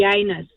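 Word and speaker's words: Janus: I hope they're not listening this morning, but he works with a guy whose name is, it's actually Yanus, spelt with a J, but he was wearing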